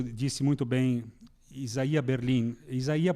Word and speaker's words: Isaías: Portanto, quando Vico, e isso disse muito bem Isaías Berlin, Isaías porque é a pronúncia correta, não é?